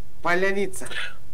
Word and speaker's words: Поляница: Твердо. Не-не, там твердое произношение. Произношение. Смотри. Поляница. Смотри. Смотри. Батый. Батый. Хан. Но. Батыхан. Не. Батыхан. Баты. Не. Баты. Баты. Или, например, Батыр. Батыр. Батыр. Батыр. А это поляница как будет у Поляница. Поляница. Поляница. Ты мягко произносишь. Ты мягко твердая, произносишь. Твердая, твердая Л. Твердая Л. Поляница.